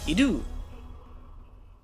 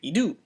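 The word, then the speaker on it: ἰδού: we're going to speak with an upward inflection. So we'll say idou instead of like idou or idou. We have to say idou.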